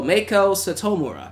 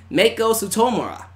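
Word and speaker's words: Meiko Satomura: 38 years old Oh Mako citta Satomura so Mako Satomura that's how you say her name and she's 38 years old so not meet Koba Mako Mako Satomura I knew that I knew that but she's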